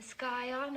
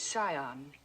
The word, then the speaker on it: scion: Yale, a yacht, and the skyon of a prominent family. The word is scion. The sea is silent.